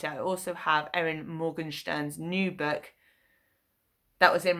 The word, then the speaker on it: Morgenstern: For some reason I always want to say Steen, not Stern. It's Morgenstern. So, I was recommended this by the book club that I used to go to.